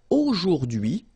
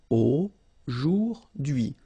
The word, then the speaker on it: aujourd'hui: So the first one, A-U-O, jour, and then d'hui, okay? H is not pronounced, so you only get this d'hui thing. Aujourd'hui.